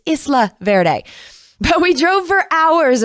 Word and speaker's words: Isla Verde: lukio in isla verde i always want to say isla verde because that's how it's spelled but it's isla verde but we drove for